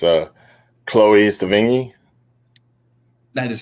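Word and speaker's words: Sevigny: mindy uh oh god i hope i don't butcher the last name sounding but it's uh chloe savingy that is correct okay yeah is that how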